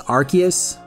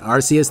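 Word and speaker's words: Arceus: oh and side note I pronounce the Pokemon as archus uh mostly because of this archus if you pronounce it arus though there's nothing wrong with that it's just a Pokemon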